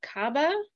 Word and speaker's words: Kaaba: first one is what is the significance of Kaaba I don't know if I'm pronouncing that right yep that's correct so we'll